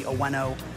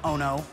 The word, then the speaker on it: Oeno: Now down here in Hawaii, the local pronunciation would be Oeno or Oeno, which we hear a lot. I call it Ono, like delicious.